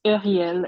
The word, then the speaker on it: Uriel: It's Uriel. It's like a French name, but it's fine.